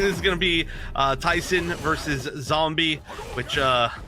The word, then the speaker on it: Tyson: So yes, this does look like this is gonna be Tyson versus Zombie, which 2 weeks ago I learned it's pronounced Tyson, like the chicken.